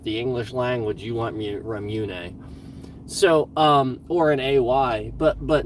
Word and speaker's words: Ramune: like, so like the Ramune sodas, like for the longest time I was saying Ramun soda, and it's Ramune. It's not Ramun, it's Ramune. And there's an E, it's literally spelled Ramun.